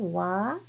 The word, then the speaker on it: わ: Wa and o and Okay, so this is wa, and remember the particle wa? Particle wa and this hiragana wa has the same pronunciation.